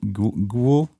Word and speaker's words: Goyle: How did you pronounce Goyle's name last time? I mean, Ghoul.